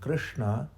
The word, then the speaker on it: Krishna: Whereas sh, which is the sound in Krishna, which many people pronounce similar to Shiva, but it's not right because it's a different sh, and that is when you roll the tongue inwardly. Sh. So Krishna, right?